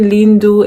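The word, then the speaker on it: lindo: if it's a man you say vo e lindu so the difference is linda that ends with an a is female and then lindu which ends with an o is male yeah i know i'm saying lindu and it sounds like it's a you but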